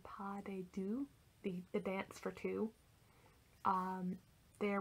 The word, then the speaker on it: pas de deux: French last name, but I believe it's pronounced a pas de deux, the dance for two, there with Tuesday Afternoon, I'm picturing all this set in like a park.